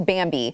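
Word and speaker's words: Bambee: compliance don't do that go to bambi it is spelled b-a-m-b-e-e they were created specifically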